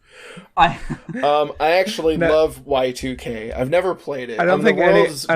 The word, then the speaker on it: Y2K: obvious elephant room y2k that is actually how you pronounce the game it's y2k oh yeah um but